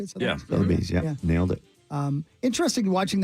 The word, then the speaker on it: Sotheby's: Sotheby's, is that how you say it? Sotheby's, yeah.